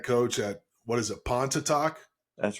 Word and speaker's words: Pontotoc: You were in junior college, and then you went and became the head coach at what is it, Pontotoc?